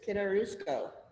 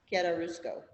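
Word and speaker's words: chiaroscuro: It's like KEY AR O SKU RO, Kitarusco.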